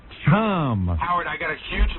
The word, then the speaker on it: CHOM: So we welcome Montreal 97.7 Chum, pronounced Shome. Shome. That's French. I am not pronouncing our station Shome. It is Chum.